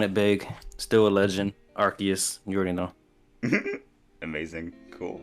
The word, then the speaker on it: Arceus: That's not how you say it. Arceus.